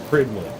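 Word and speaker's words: Prydwen: It's pronounced Pridwin.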